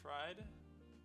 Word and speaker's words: Fried: Max Fried, that's how to pronounce his name, is going to be pitching today.